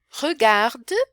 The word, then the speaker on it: regarde: Je regarde, você vê que é e e, mas o final é mudo.